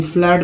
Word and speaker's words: flood: FLOOD, फ्लड में double O का उच्चारण आ के रूप में होता है और लुक में डबल ओ का उच्चारण ऊ के रूप में होता है।